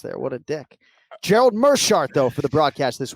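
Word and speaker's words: Meerschaert: Gerald Mearshart, though, for the broadcast this weekend. It is not Mearshart, despite that double E in the first syllable of his last name.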